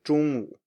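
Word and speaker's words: 中午: And note that this is just a low tone normally, 中午. If you listen to a teacher, and I kind of do it intuitively because I'm so used to saying words when I teach, if you want to emphasize it, you can go up at the end and say 中午, but it sounds very stiff, and most people don't speak like that.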